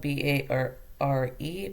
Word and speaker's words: Barre: So it is spelled b a r r e but pronounced Barre.